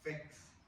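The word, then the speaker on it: PHEX: En este cromosoma X hay muchos genes, hay un gen, que es el gen FEX, se pronuncia FEX, pero que es PHX, que tiene una mutación.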